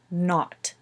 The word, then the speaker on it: not: But it's pronounced not, ought, not.